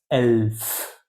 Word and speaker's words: elf: the more interesting stuff 11 in German that's elf like an elf in Lord of the Rings there were 11 elves